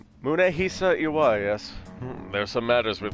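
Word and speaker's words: Munehisa: money so you really i've been pronouncing his family name wrong this whole time this whole time i thought it was moonaisha munehi yes there's some matters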